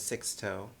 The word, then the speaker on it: Sixtoe: Their name is Sixto.